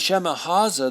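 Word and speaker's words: Shemihazah: shema's shemaziah shema haza i said it wrong earlier and shema haza their chief said to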